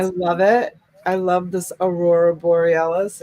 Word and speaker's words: Aurora Borealis: It was one of those words, Aurora Borealis. Am I saying it right? Yes, ma'am. And awesome. I love it. I love this Aurora Borealis.